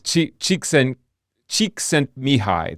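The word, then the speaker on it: Csikszentmihalyi: that I'm not even going to try to pronounce it. Yeah, it's it's Chiken Cheeks and Mihi.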